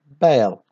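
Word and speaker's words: Bâle: هنا عندنا he was born in Bale. We notice here that the S is silent.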